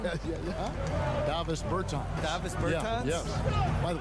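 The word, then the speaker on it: Dāvis Bertāns: Oh, well now, at this point in my life, it's Davis Bertans. Is that how you say his name? Davis Bertans.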